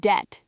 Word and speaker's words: debt: The word debt, D-E-B-T, the B is completely silent, has been for centuries, but the spelling remains.